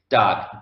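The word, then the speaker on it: דג: pronounce this word yourself dog dog dog is the way from fish dog is fish and of course the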